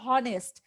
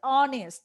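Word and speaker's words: honest: এখানে যদি কনসোনেন্টের উচ্চারণ হতো তাহলে এটা হতো হনেস্ট, কিন্তু এখানে ভাওয়েল দিয়ে উচ্চারণ হবে তার মানে এটা হচ্ছে অনেস্ট।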